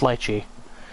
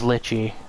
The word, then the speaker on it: lychee: that lychee lychee sorry yes it is pronounced lychee chris was very confused sorry chris i mean you know sing was very very confused about that at first he thought it was litchi but a lychee is